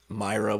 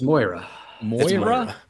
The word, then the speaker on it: Moira: point anytime also Patty if you call Moira Myra one more time it's my listeners will probably scream at us no it's more it's Moira I don't I'm not